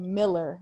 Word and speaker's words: Mueller: It's called Miller, but I call it Mueller because that's how it's spelled.